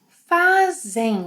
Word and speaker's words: fazem: Vocês, eles, elas fazem with a z sound.